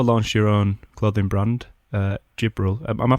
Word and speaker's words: Jibril: You've also launched your own clothing brand, Jibril. Am I pronouncing that right? Yeah, Jibril.